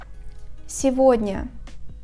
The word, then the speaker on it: сегодня: In the combinations of ого, его, the letter G is pronounced as the sound V. For example, сегодня, моего.